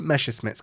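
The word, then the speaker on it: Messerschmitt: fighter to begin with Q the excellent German pronunciation villy meses Smith's career is both inspiring as well as truly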